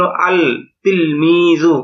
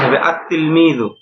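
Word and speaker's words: التلميذ: অনুযায়ী হওয়া উচিত ছিল আল তিলমিজু এরকম না বরং এটা সঠিক উচ্চারণ হবে উচ্চারণে এরকম আতলমি কিন্তু লেখায় আসবে এরকম আল আত্তিলমি মানে এখানে লামটা উচ্চারণ হবে না।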